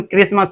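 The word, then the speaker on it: Christmas: यहां टी के पहले एस आर है। ठीक है? तो यहां हमारा टी यह जो टी है यह वाला यह टी ये टी हमारा साइलेंट हो जाएगा। इसे हम क्रिसमस पढ़ते हैं ना कि क्रिसमस।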